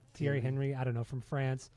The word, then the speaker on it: Thierry Henry: How do you pronounce his name? Thierry Henry. Thierry Henry.